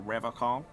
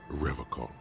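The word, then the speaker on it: Revachol: He pronounces Revocol with a hard K, unlike other people. Serious question time. This man is no innocent. No one is. You said Revocol. I like to pronounce it the hard way. The old way. The Vespertine way.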